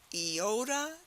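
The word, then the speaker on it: iota: so repeat after me eota Kappa Lambda does it help to remember e yikes a cap on a lamb repeat after me eoda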